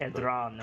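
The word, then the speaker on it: Edrahn: Edran is what I said last time. Edran. You know what? Can you spell that for me?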